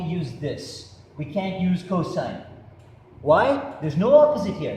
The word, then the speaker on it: cos: hypotenuse the next formula is cos which is pronounced cosine the cosine of an angle is equal to